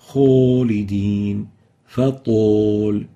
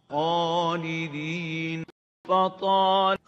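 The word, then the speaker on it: خالدين: For example, Khalidin, Fatul. So the Arabic A sounds like an O of the English language. Kho, to. This is wrong. The proper way of pronouncing it is Khalidin, Fatal.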